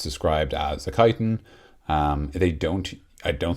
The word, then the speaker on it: kyton: those words so they keep calling it a chitin which is spelled k-y-t-o-n um and then it's